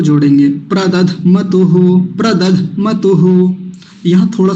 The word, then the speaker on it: प्रदध्मतुः: प्रदध्मतुः, प्रदध्मतुः। यहाँ थोड़ा सा झटका लगेगा, धक्का सा लगेगा, हल्का सा। कैसे? प्रदध्मतुः, प्रदध्मतुः, ऐसे करके प्रदध्मतुः, ऐसा।